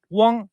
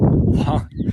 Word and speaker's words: Wang: It's the second tone. Wang. The third tone is Wang. Well, the fourth tone is Wang. Wang, Wang, Wang, Wang. 4 different intonations.